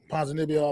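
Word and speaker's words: Ponzinibbio: pronounce his name wrong ponds and nebio panzanibio I believe is how he pronounce it that's perfect he's a warrior he's he's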